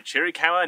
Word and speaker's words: Chiricahua: know how to say this one welcome to chiricahua national monument Jericho a national monument is located